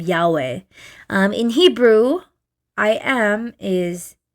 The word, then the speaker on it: Yahweh: Like Yahweh. It's like breathing. I saw this one video on I think it was on TikTok or somewhere. It's like breathing, like that.